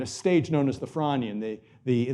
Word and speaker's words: Frasnian: stage known as the Franian. The the the S is silent.